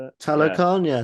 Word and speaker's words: Talokan: Telecan. Telecan is that how you say it? Yeah, Talokan, yeah, Talokan, thank Telecan.